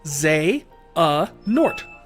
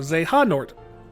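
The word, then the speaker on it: Xehanort: zort it is pronounced z a nort or Zan nort z a nort you don't pronounce the h i don't know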